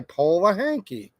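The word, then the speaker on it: Polehanki: gonna say I mean it's spelled like p o l e h n k i po hanky and like South Paul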